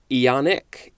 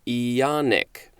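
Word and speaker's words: aeonic: today is ionian a-e-o-n-i-a-n it also says or ionic ionic a-e-o-n-i-c this is an adjective from 1765 lasting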